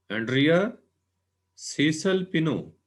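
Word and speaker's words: Andrea Cesalpino: इनमें पहले है एंड्रिया सीसल पिनो. ये तलफ़ुज़ जो है, प्रोनाउंसिएशन, ये सही होनी चाहिए इन साइंटिस्ट की.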